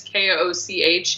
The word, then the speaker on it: Koch: you just have to, the last name is Koch, even though it's pronounced, it looks like Koch, so just FYI.